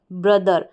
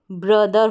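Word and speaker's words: brother: ब्रदर हो गया, ब्रोदर ना पढ़ें, ब्रदर पढ़ें।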